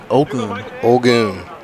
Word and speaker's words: Olguin: It's going to be Gabriel Olguin. Olgun. That's how you say it?